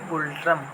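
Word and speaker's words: Ngultrum: मुद्रा क्या होती है, यहाँ पे यन को जो है ये साइलेंट कर देते हैं, यन को साइलेंट कर देते हैं, तो इसकी मुद्रा हो जाएगी गुलट्रम।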